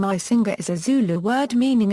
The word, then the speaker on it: Icinga: The name Icinga is a Zulu word meaning it looks for, it browses, or it examines, and is pronounced with a click consonant.